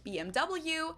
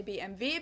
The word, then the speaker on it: BMW: In English, people say BMW. In German, we say BMW because W is pronounced W in German, and it Oh, stands really?